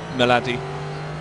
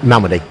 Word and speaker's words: Malmedy: as he comes around Melody or Malmedy. Have I got the name wrong? Malmedy. It does look as though they're closing on the duo of Bird and Coppins ahead of them.